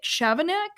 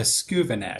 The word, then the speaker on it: Skouvenek: Is it Chavanek? Is that right? Chavanek? It's actually a Skouvenek. It's Skouvenek. a doozy. It's a doozy.